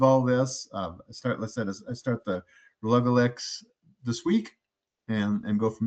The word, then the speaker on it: Relugolix: ago, and he said, accent on the go, Relugolix and Relugolix.